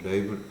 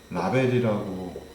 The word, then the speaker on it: 레이블: 이 클러스터라고 하는 것들은요, 레이블이 없는, 라벨링이 안 돼 있는 레이블, 이제 보통 라벨이라고 써 있고 우리가 어릴 때부터 라벨이라고 했지만 이게 레이블입니다. 레이블, 레이블 이렇게 L 발음은 전부 다 을이 들어가야 되거든요.